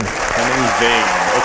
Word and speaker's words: Henning Wehn: Henning Wehn. Okay, that's how I pronounce it.